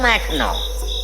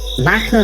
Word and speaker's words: মাখন: তা বাবু, যে কথা বলতে এই সন্ধে ঘুম ভাঙলাম সেটা বলি, শোনো মাখনো। মাখনো না, আমার নাম মাখন।